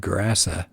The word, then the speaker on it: Gerasa: And it says the English pronounce it Cursa, but a Hebrew word translates it into Greek, and it would sound like Gerasa.